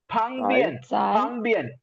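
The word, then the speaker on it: 旁边: வரும்போது DS sound Sai பங்பியன் B sound வரும்போது இப்பு ஸ்ட்ராங் ஏர் பஃபோட ப்ரொனவுன்ஸ் பண்ணுவோம் பங்பியன் beside next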